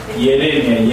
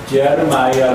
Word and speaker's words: 예레미야: 예시 그래서 누구냐 면은 예레미야 예레미야 미국 사람들은 예레미야 발음을 하지 않고 발음 잘 못하니까 제르 마이야 이렇게 말해요 제를 제일로 발음하는데 우리는 제를 이으로 해서 예레미야 예레미야 예레미야는 사람 이것도